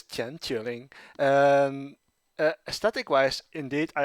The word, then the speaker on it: 千秋令: even pronounce this because i can't go with the japanese pronunciation because that would make sense make sense yes that would be like send aki mai or something like that i was like that does make sense right yeah yeah i agree so i had to look up the chinese pronunciation and it apparently is chen chuling and aesthetic wise indeed